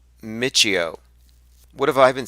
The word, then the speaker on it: Michio: than theoretical physics it's mysticism somebody says it's pronounced Michio what have I been saying thank you for